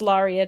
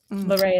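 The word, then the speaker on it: Larrea: The botonist will say it's Lauria Tridentata, but Laora is the way that my parents pronounced it.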